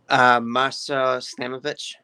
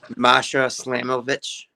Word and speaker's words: Masha Slamovich: Masa Stamovic. Who? Masha Slamovich.